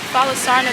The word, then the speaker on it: Falasarna: But I did see, and I'm not sure, but I think Falasarna means big beach, because everywhere there was Falasarna, there was big beach underneath it.